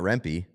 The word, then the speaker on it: Rempe: Everybody says Matt Rempe. Rempe. Where'd you hear that? The fucking pronunciation guide that's wrong all the time?